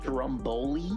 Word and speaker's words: stromboli: I made this stromboli, which is basically Stromboli? Stromboli. At least I feel like I was saying that shit wrong. No, you're saying it. It looks like you're saying it right.